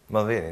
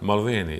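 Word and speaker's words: Mulvaney: Malveni, da. Malveni, eto akcent, engleski.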